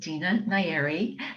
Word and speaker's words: Dina Nayeri: And I'm really excited to finally meet Dina Nayeri. Have I pronounced your name correctly?